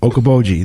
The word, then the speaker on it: Okoboji: No, pronounce the name of the lake now. It's different. Okoboji. Okoboji. Okoboji. There you go. He got it.